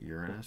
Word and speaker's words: Uranus: went on to Uranus that's the way you pronounce it Uranus so that people don't laugh Uranus um on